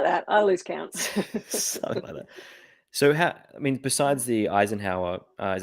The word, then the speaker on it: Eisenhower: So besides the Eisenhower, is that how you say it? Eisenhower?